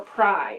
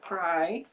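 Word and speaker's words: prae: but now it's like pray, I think is before? Yeah, before, or pry is how you pronounce it, pry.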